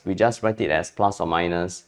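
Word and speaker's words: ±: Okay, but you must pronounce this as plus or minus x. Okay, if you to pronounce this as plus or plus and minus, sorry, I can't even say it.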